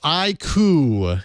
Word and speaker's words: iQOO: Well, iQOO is how I'll pronounce iQOO. it going forward, because I think, iQOO.